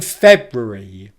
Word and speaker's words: February: And point number 3 is to make sure that you're not breaking up these syllables, putting pauses in between them, and making all 4 syllables.